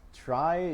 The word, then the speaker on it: trie: a real good justification it's pronounced try but it comes from the middle of retrieval that's so much for